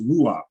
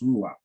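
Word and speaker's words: רוּחַ: But it's pronounced ruach, and we see that's reach. By the way, they got a vowel pointed, but it's pronounced ruach.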